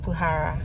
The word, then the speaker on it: Bukhara: are we going to do Sage apparently it's pronounced bhara but anyway yeah we really enjoy it actually